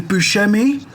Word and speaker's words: Buscemi: Blonde, Steve, I think you pronounce his surname as Buscemi, as Mr.